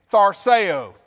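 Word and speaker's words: θαρσέω: in the new testament the word is thor tharseo farseo now say that with me think about how it's spelled and get ready thar sayo thar sayo write it on your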